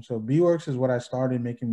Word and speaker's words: Beewirks: before went by like is it b works i'm guessing that's how you pronounce it i was producing under that name so b works is what i started